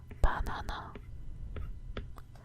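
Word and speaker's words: 바나나: In Korean, banana is pronounced banana, banana, banana, banana.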